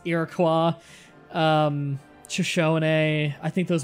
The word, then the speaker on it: Iroquois: was either Shoshone a Iroquois not Iroquois some people pronounce it it's Iroquois Shoshone a I think